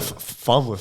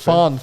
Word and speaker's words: Farnworth: He's had a little dip, but I think Is that Farnsworth? Farnworth. Farnsworth. Yeah. I With said the it wrong. N, I was yeah, gonna say. yeah. I thought I was saying it wrong.